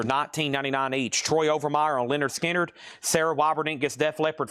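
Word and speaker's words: Lynyrd Skynyrd: Over here, we have Leonard Skinner, pronounced Leonard Skinner.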